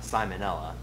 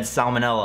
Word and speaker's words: salmonella: healthy if I got simonella okay I might have pronounced the word wrong once I don't know why I said salmonella like that simonella I clearly said it